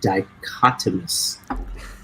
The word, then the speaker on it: dichotomous: I was going to blame Jason for eating a dictionary earlier using the word dichotomous. Rhymes with hippopotamus.